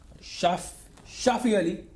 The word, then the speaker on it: Shafi Ali: then comes Shafi Ali Shafi Ali is the way you pronounce his name you will have 24